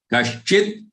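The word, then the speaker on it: कश्चिद्: Kaschid, as if there is a half da followed by following the kashchi.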